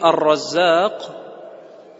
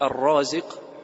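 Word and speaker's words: الرزاق: Это имя — Ар-Раззак, также произносится как Ар-Разик в другом варианте. Имя Ар-Разик также встречается в форме Ар-Раззак.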